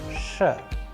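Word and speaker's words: Ш: The letter is Sh, Sh. An English approximation which we have used here is push, push.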